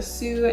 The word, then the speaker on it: Sioux: The third fun fact is that the Granite Highpoint is a sacred place, especially for the Sioux Native Americans. Sioux, S-I-O-U-X. I hope I'm pronouncing that right.